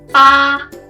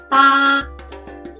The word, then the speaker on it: 八: Number 8, 八, 八, 八. So it's very similar to father, 爸爸, but instead of having the fourth tone, you have it at the first tone. 八, make it flat.